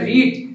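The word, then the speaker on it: read: তারপরে ভার্বের past participle form কি জন্যে যে রিড রিডের কি বানানে কি কিন্তু উচ্চারণটা কি হবে রিড রেড রেড কি রিড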